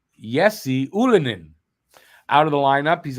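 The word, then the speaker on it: Ylönen: will be taking uh Jesse Ulen out of the um did I say it wrong I said it wrong he yesie Ulin out of the lineup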